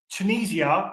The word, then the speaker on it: Tunisia: Tunisia is actually pronounced Tunisia, not Tunisia, not Tunisia.